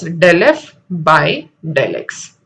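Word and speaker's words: ∂f/∂x: Now this is pronounced as del f by del x.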